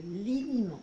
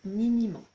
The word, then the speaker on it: liniment: Le liniment, parce qu'il y a certaines personnes qui prononcent niniment. Donc, le liniment avec un L, si vous êtes papa ou maman, vous savez très probablement ce que c'est.